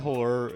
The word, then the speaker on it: Halure: I hate that Halure is pronounced the same as Demure.